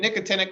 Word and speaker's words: nicotinic: call glands and then nicotinic kind of sounds like the word nicotine okay but these receptors